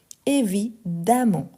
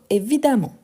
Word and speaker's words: évidemment: adverbe donc évidemment évidemment attention car les e avant le double m il y a le son de a évidemment et pas évidemment donc évidemment ensuite on a plein